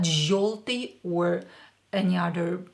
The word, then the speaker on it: Желтый: Желтый, but pronounce it as O. After Ж, yo is pronounced as O. Желтый, not желтый or any other pronunciation.